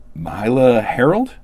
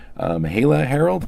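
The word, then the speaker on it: Myha'la Herrold: It also stars Ethan Hawke, Mahershala Ali, Mahala Harold, I think is how you say her name. Mahala Harold. I'm not 100% sure that's how that's pronounced.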